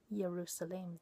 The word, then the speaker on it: Yerushalaim: So he pronounces it Yerushalaim there.